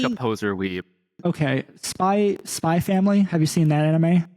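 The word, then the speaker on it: Spy × Family: So Spy Family is written out Spy X Family, but it is pronounced Spy Family.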